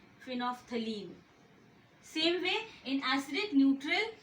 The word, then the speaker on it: phenolphthalein: L is silent, phenolphthalein.